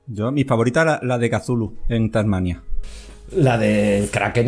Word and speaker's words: Cthulhu: No se dice Cthulhu, es Chullu. O sea, a ver si empezamos a hablar con... Está pensado para que ninguna garganta humana pueda pronunciarlo, con lo cual yo creo que debemos aceptar cualquier aproximación.